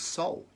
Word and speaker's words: sol: for the sun is soul, S-O-L, but pronounced exactly like the light you hold within you, which is your consciousness.